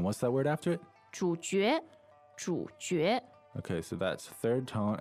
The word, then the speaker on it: 主角: But you will hear people say 主角。主角，对。